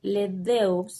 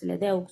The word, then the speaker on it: LeDoux: a colación a Joseph LeDoux, LeDoux, creo que se pronuncia, apellido francés, pero él era estadounidense,